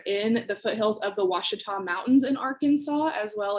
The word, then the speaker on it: Ouachita: want to address that it is hard to pronounce watchtop especially if you've never seen the word before it's o-u-a but it makes the w sound we are in the foothills of the ouachita mountains in arkansas as